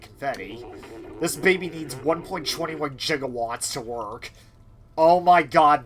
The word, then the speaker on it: gigawatt: Funny thing, it's actually supposed to be pronounced gigawatts, but for whatever reason, it's Christopher Lloyd actually pronounced it as jigawwatt.